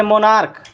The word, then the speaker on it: monarch: लेकिन यदि जैसे मोनार्क यानी कि सम्राट, यहाँ CH का क हो रहा है।